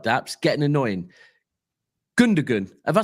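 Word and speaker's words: Gündoğan: The G doesn't really get pronounced. So pronounced. Sorry. So what is it? Gundogan. Gundogan. Oh, Gundogan. Oh, okay. Gundogan.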